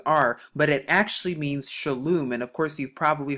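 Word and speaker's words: שלום: it as shalom but the reason we pronounce this shalom is because we have the shan right here so we know that makes the s h sound we have the lamb right here which makes the l sound but then we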